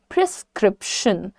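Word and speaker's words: prescription: इसका correct प्रोनंसिएशन सीखो सबसे पहले प्रिस्क्रिप्शन प्रिस्क्रिप्शन कैसे बोलेंगे प्रि लाइट रखो प्रि स्क्रिप्शन प्रिस्क्रिप्शन तो ब्रेक करके जैसे मैंने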